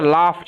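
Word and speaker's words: laughed: king also লাফট উচ্চারণটা লাফট এরকম ভাবে জি এইচ এর উচ্চারণটা ফ এর মত হবে ওকে লাফট কিং অলসো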